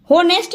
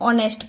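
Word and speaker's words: honest: होनेस्ट नहीं पढ़ेंगे, यहाँ पे भी एच क्या है? साइलेंट है। ऑनेस्ट पढ़ेंगे।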